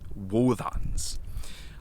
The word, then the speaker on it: Wōdans: it would simply be Wōdans. It is spelled with a D, but it is pronounced like a TH in the word father.